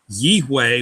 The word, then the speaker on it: Yahweh: And that's why I believe that this is pronounced, this is the name, how the name is pronounced, because it's almost identical to the Yod-He, Yih-Yeh.